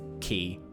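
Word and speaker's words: quay: key, or the wharf key? Spelled Q-U-A-Y. Q-A... what? It's a word play. Oh. Because key, as in like a wharf key, as in like a shipping key, sounds like the word key.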